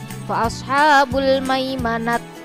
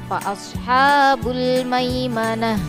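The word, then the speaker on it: فَأَصْحَابُ الْمَيْمَنَةِ: tanya menjadi hak sukun jadi membacanya bukan seperti ini Fals habul maimanati menjadi tak bukan seperti itu ya Fals habul maimanati Nah itu salah yang betul adalah fashabrun maimanah menjadi hak Sukun contoh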